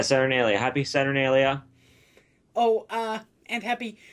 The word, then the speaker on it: Saturnalia: How's it pronounced? Saturnalia? Yeah, Saturnalia.